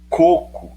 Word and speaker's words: coco: coco e coco coco coco é paroxítona terminada em ó não leva certo cocô é oxítona terminada em ó pela regra das oxítonas e leva acento entendeu